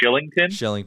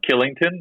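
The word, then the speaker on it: Kylington: Like they've got, I think you pronounce it like Shillington, but it's Killington.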